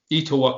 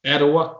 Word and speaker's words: Etowah: My guess, Ashley, is that you also, now this is Etowah County. How do you say that again? Etowah. Etowah?